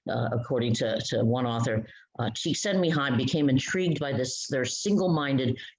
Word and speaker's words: Csikszentmihalyi: I think he's Russian or Eastern European, Mihai Csikszentmihalyi. So his first name is Mihai, his last name is Csikszentmihalyi.